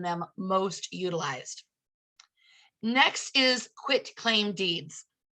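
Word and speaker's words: quitclaim: A lot of us, I think, pronounce it quick claim deed because it is a quick, very quick way to add someone to title, or a quick way to get them off.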